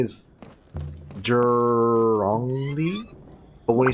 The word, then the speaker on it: Zhongli: Also, I think, so Tayu said ZH is pronounced like Jur. So, Zhongli is Zhongli? But when you say it fast, it sounds like a J, so it's Zhongli.